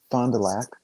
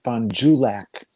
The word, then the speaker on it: Fond du Lac: a french word um half the population calls it fond du lac the other half calls it fondue lack yep well i've said